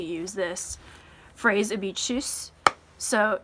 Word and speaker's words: tschüss: It'd be tschüss. So tschüss, it'd be like you're saying chew and then you put s at the end of it.